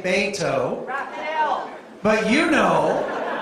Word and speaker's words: Beto: we have to do it in a way that corrects all those mispronunciations of Beto's name, right? And so you've heard people say Beto, and remember Ted Cruz used to deliberately mess it up. He'd say Beto, but you know how